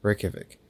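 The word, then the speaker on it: Reykjavík: the capital city of okay how do i pronounce this again reykjavik reykjavik reykjavik reykjavik the j is like a y i see that makes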